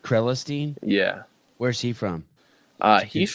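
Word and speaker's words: Crelinsten: Am I saying his name right? Krelestein, I think it's pronounced. Krelestein?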